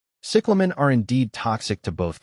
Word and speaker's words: cyclamen: Cyclamen is pronounced as cyclamen. The emphasis is on the first syllable, with the E in the second syllable sounding like ah.